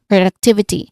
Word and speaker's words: productivity: So this word has multiple syllables and you know two levels of stress because I've mentioned about pro and duck both having equal stress. So pay attention to the stronger stress on the third syllable.